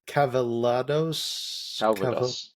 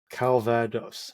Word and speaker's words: Calvados: life of me can never pronounce that word right is it calados calos Calvados okay which is a um